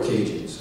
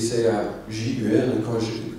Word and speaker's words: Cajun: Alors, moi, quand je vais dans le pays de Dominique et je vois ça s'écrit C-A-J-U-N, Cajun, moi ça me fait chier parce que c'est pas Cajun, c'est Cajun, ok?